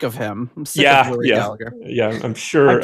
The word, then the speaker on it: Gallagher: It's the the Gaelic pronunciation is uh making the second G silent, but uh us Americans are just going to pronounce it the way we want.